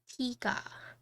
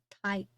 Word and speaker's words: Tiga: Would I recommend this board over the 75 Tiga? So it's actually Tiga, not Tai, or they basically, it's pronounced differently.